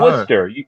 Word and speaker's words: Worcester: Worcester. You figure it's wer. No, it's spelled like worchester. It's w o r c e s t er and it's pronounced Worcester.